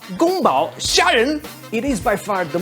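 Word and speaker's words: 宫保: the cone power shrimps which in chinese will be pronounced as gumbao it is by far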